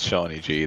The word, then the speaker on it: Shawnee G: Anyway, so yeah, it's Shawnee G. That's how you pronounce the name.